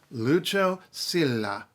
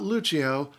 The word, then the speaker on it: Lucio Silla: Lucio Silla. Count the syllables. There are 4, not 5. Not Lucio.